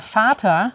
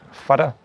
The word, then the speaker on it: Vater: Auch interessant, dass T wird sehr weich ausgesprochen wie ein D. Ich sage zum Beispiel die Mutter. Mutter. Der Vater. Vater.